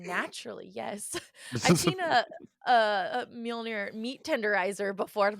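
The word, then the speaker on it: Mjölnir: Mjolnir. Right? Did I pronounce that right? Mjolnir.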